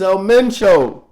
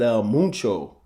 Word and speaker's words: El Mencho: It's El Mencho. He said Elo. That's El Mencho, brother.